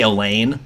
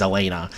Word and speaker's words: Elena: I always say Elaine, but her name's Elena.